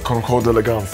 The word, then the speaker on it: Concours d'Elegance: Let's start with how do you pronounce it, Okari? It's Concours d'Elegance.